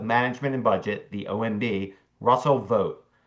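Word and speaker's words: Vought: Russell vote is so wrongly obscure that his name is commonly mispronounced. It does not rhyme as it appears that ought to with ought as in Russell va vote ought to be public enemy number one or with wrought as in vote vote has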